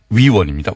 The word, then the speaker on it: 위원: 예, 발음을 정확하게 해주십시오. 의원이 아니고요. 위원입니다. 위원.